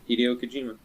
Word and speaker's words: Hideo Kojima: Yeah, Hideo Kojima. Oh. bam, nailed it. Look at that. Sounded shit. like you butchered it, but alright.